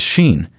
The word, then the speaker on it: Sinen: young Travelers tez and sinen pronounced as Sheen and an introverted man